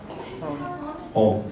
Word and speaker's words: hon: consonant by itself, and it's actually you're saying n, but you keep your lips closed, so it could be either an N or an M, and when they write